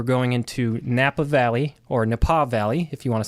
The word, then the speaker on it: Napa: So nobody Oh, you have to go to Nepal. Nobody. Nepal Valley. Everybody just turn this podcast off right now. Uh, your pronunciation is a fauxpaw. Nepa. It rhymes with Nepal.